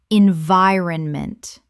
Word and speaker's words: environment: mispronunciation environment correct pronunciation environment Four syllables with the stress on the second. The iron collapses to run in natural speech.